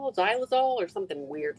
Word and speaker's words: xylol: is it it called it starts with an X but you say it like a z xylol or something weird like